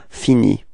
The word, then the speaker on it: finis: Okay, so you see that this verb is ending with S, but then you don't pronounce it. All right, so it's je finis.